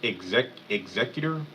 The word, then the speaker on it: executor: It's pronounced executor.